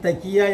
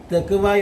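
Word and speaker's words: تقوى: യഥാർത്ഥത്തിൽ തെക്കിയ എന്നല്ല ആ വേർഡ്, തെക്കുവ എന്ന് പറയുന്നതാണ് യഥാർത്ഥത്തിൽ ആ വേർഡ്.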